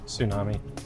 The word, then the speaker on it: tsunami: Give these words that in most American accents begin with a silent letter. Bond County, your 60 seconds begins in 3, 2, 1. A huge ocean wave. Tsunami.